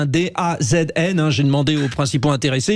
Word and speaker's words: DAZN: Bon, c'est comme ça qu'on prononce, D-A-Z-N.